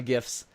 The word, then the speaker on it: GIF: that no no it's gifts because the G stands for graphic not draffa k-- well because the original creator says jiff and that's the problem